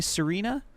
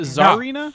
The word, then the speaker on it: Serena: Is it Pokemon Zarina? Is it's pronounced Zarina? Serena. I said Serena.